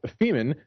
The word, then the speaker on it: Femen: The feminaziist activist group Femen, which, yes, not only rhymes with semen, but also has the